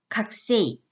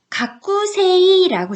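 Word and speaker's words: 学生: 각세이. 각세이. 가꾸세이라고 적혀져 있잖아요. 그런데 요거는 발음을요. 가꾸에서 꾸를 좀 약하게 발음해요. 그래서 가꾸세이보다는 살짝 그냥 각세이.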